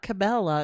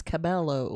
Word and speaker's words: Cabello: you say it yes I thought it was camil Cabella not Cabella it's Cabello I thought it was like